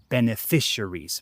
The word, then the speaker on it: beneficiaries: Also be careful with the pronunciation of the word beneficiaries. I feel like Spanish speakers have a difficult time with these words that are like four or more syllables.